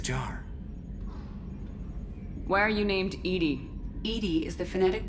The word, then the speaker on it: EDI: airlock is a jar why are you named Edie Ed is the phonetic pronunciation of e di that is an acronym